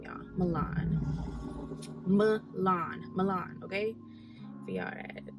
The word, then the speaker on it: Milan: Milan, okay? For y'all, I just feel like a lot of people don't know how to say her name properly, but it is Milan.